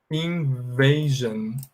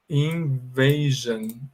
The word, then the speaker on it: invasion: A terminação S-I-O-N, ela está antecedida por vogal, por som de vogal, olha só. No caso de invasão, esse A tem som de E, então fala assim, ó. Invasion. Invasion. Tá vendo? Antes do S-I-O-N, há um som de vogal, então eu vou pronunciar com esse final aí, né? Como se fosse Jan, tá bom?